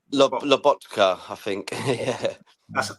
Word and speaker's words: Lobotka: Bart saying here, will McTominay get game time in Naples, as they've got the Polish guys at Loptopka? Pronounce that for me, guys. Loptopka? Loptopka? Lobotka. Lobotka, I think.